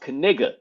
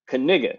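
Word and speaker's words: Knigga: Googled it and we found out that it's pronounced kiga kigga that's his name Noah kigga which is like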